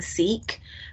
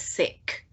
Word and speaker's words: Sikh: it was called being seek uh well the correct pronunciation is sick yeah you know you